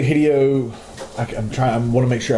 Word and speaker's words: Hideo: It's actually Hideo.